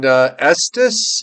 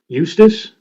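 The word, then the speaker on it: Eustis: 42 in Estus. Eu st i s. Is that how you say it? Eu st i s. Estus. Eustace. Eustace. Eustace.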